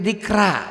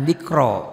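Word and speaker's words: ذكرى: Kalau Latin itu dikra, bukan dikro.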